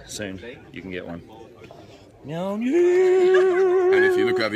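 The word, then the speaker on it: Mjölnir: And correct spelling is Mjolnir, pronounced Mjolnir.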